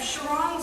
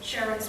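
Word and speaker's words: Charon: the basic premise of Chiron chiron's work Sharon's work I always mispronounce her name the basic premise of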